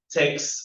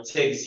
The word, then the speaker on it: TeX: will talk about uh Tex or texi you pronounce it the way you want and EM the FL